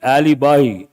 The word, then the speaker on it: alibi: write the word Alibi how do you pronounce this not Ali Alibi a l i b I write the meaning